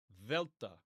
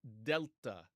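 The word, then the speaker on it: Δέλτα: Velta, Velta. And again, it's traditional to write it as delta, delta. Okay. But in modern Greek, it's going to be pronounced Velta, Velta.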